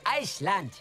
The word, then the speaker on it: Island: Hallo, es heißt Island. Betonung auf Eis.